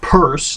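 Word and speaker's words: Peirce: a fellow named C.S purse now it's spelled p-e-i-r-c-e but it's pronounced purse and he was a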